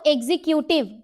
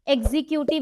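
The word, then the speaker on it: executive: एग्जीक्यूटिव किसने बोला दीपक एग्जीक्यूटिव सही प्रोनंसिएशन है आज जान लो गाइस गलती से भी कोई एग्जीक्यूटिव नहीं बोलेगा वरना बेइज्जती हो जाएगी बता रही हूं कैसे एग्जीक्यूटिव नहीं होता है एग्जीक्यूटिव बोलते हैं क्या बोलते हैं एटिव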